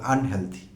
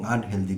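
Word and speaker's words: unhealthy: আমি জানি আমাদের দেশের কোটি কোটি মানুষ এই দুটো শব্দকে হেলদি এবং আনহেলদি বলেন। সো আমি সেটি বলি না, কারণ আমি পড়াই, তো আমি একজন ছোটোখাটো শিক্ষক, ছাত্রদের শুদ্ধটি শেখাবার চেষ্টা করি। তো ডিকশনারি সিদ্ধ উচ্চারণগুলো হলো হেলথি এবং আনহেলথি। ডিকশনারিতে হেলদি বা আনহেলদি বলতে কোনো উচ্চারণ নেই।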